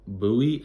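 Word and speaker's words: Buie: the name of boo Booey I think is how you say it b-u-i-e I don't know I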